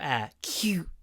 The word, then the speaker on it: acute: the O the O is clipped before the T so it comes out like cute cute also because it comes between C and t two aspirated unvoiced consonants we almost aspirate the U and pronounce it with some extra a cute cute cute can you hear it cute cute a cute sense of justice try to keep make it breathy acute an acute sense